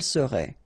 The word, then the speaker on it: serait: seriez, il serait, elle serait. Okay, so let's see how it goes. Je serai, final S not pronounced. Tu serais, same thing here. Il serait, elle serait, final T not pronounced.